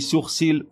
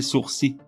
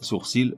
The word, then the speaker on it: sourcils: tu es tout petit tu dis sourcils hors le el finale muet on doit donc prononcer sourcils même si certaines sources reconnaissent sourcils comme étant valables Cohen la cuando même